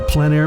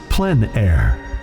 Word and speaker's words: plein air: The French pronounce it plein air. Others say PleinAir.